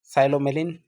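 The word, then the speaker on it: psilomelane: पायरोलूसाइट, साइलोमेलिन जिसमें P silent है, क्रिप्टोमेलिन और मैग्नेटाइट।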